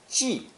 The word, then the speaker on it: 技: Pronounced fourth tone, 记, 记.